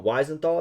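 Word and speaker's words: Wiesenthal: Weisenthal, I think, is how is pronounced.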